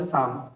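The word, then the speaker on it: psalm: of certain short সাম এখানে পি আর এল silent এখানে উচ্চারণ হবে সাম কলড দা ভয়েস অফ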